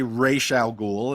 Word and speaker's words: Ra's al Ghul: Yeah, Then and all of a in the sudden, animated series, they say Ra's al Ghul, and then yeah, Ra's and al Ghul.